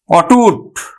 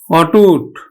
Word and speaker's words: অটুট: কিন্তু অ তৈরস অতুল অটুট অটুট অটুট এখানেও কিন্তু নেতিবাচক অর্থ প্রকাশ করছে এজন্য এটিও কিন্তু অ ধ্বনিটা অ এর মতই উচ্চারণ হবে অটুট উচ্চারণ হবে এখন আমরা